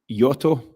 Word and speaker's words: Jota: It's actually pronounced Jota, as per Brendan Rodgers, if you remember correctly.